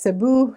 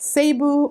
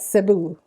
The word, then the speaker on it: Cebu: knowing how to properly say the name, it's pronounced Cebu, not Cebu or Cebu, but Cebu.